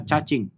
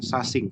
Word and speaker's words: cacing: Kata cacing dibaca cacing, bukan sasing, seperti itu ya.